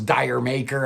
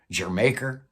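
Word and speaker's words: D'yer Mak'er: Far Away, even Jermaker, which I for years thought was Dire Maker. I had no idea what that meant. I just read that that's shorthand for Jamaica. I guess it's pronounced Jermaker. Get it?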